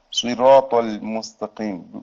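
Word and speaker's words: صِرَاطَ الْمُسْتَقِيمَ: Буква шад губы делай круглыми, а при букве син чуть-чуть как улыбаешься. Вот разница в произношении. Но язык не выходит за зубы.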